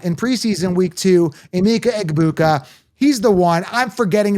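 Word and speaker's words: Egbuka: I just have a problem with the G being silent. Pronounce your name in in pride. Be happy about it. Be proud of your name. Eggbuka. Say it loud. Say it proud. Pronounce the G.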